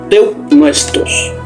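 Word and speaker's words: θεόπνευστος: Y se pronuncia teopnuestos, que literalmente significa que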